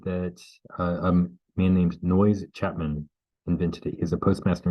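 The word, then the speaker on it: Noyes: uh a man named noise Chapman identity is a postmaster in Canada his name is not the unpleasant sound it is spelled n-o-y-e-s he ostensibly invented it into 1876.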